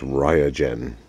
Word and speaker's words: Raijin: and over again to make sure i pronounced it right and it's ryogen it sounds like a gen at the end let's get this open